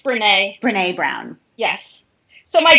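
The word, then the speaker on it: Brené: The first is Daring Greatly by, I don't know how to say her name, Brene? It's Brene.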